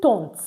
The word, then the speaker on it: tante: Nous avons une tante. AN is pronounced on. That's why it is tante.